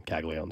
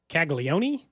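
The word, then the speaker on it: Caglianone: Someone also in the text is convinced that his name is not Kag Leone. I hate to break it to you. That's that's his name. That's how it is in the pronunciation guide. Every PA announcer at every level has called him Kagalleone. So I don't know if that person is just trolling. What do they think it is? Like Kagleion, I think. So, but it's definitely not. It's definitely not that. I Kaggleon.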